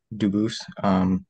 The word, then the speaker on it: Dubus: I am Dubus. Dubas is the English pronunciation. Dubus is the original French.